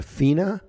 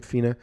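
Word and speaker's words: FENa: Smith weigh use an ideal body weight and then what is the fractional excretion of sodium it's pronounced a FINA fractional excretion of sodium FINA what it used for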